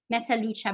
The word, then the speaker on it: Mesaluc: you so much roxani so my name is pronounced as hajja rahma mesa lucha banyega so you did it